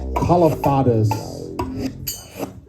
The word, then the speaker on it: Kalafatis: Kalafatis. It's Greek.